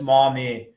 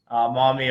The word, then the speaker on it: Maumee: It's Maumee. Maumee, Ohio is the pronunciation.